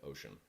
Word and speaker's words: Oshun: ocean water shower filters but it's spelled differently than you think it's o-s-h-u-n ocean it's actually a real